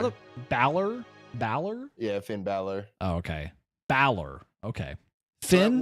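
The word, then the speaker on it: Finn Bálor: Yeah, Finn Balor.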